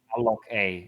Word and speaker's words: alloca: Alloc-A is how you say it.